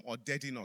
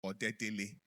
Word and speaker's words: Odedina: So even though he pronounced my name the wrong way, I'm Odedina Kitunde, not Odedele.